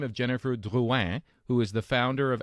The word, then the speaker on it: Drouin: pronounce it correctly in French Yeah. as Drouin, that would be great.